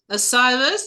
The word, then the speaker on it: Osiris: Hi, we have with us today, otherwise known as Osiris. Did I pronounce that correctly?